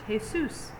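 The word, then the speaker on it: Jesús: was born so actually in spanish jesus name is pronounced jesus because the j's are like ages i haven't been doing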